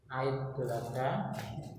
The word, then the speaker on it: Idul Adha: Bacanya Idul Adha, kemudian atau mungkin ditambah penyembelihan hewan kurban saja ya.